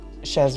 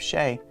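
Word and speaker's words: Chez: Today we're drinking Shez Red Bull. It's very good. I know I just said Shez instead of Shay.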